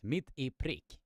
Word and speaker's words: mitt i prick: But the Swedish word that I did wrote to all of you is pronounced like this, mitt i prick.